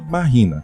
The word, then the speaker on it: Mahina: à deusa havaiana da lua Mahina, cuja pronúncia se assemelha a machine ou máquina.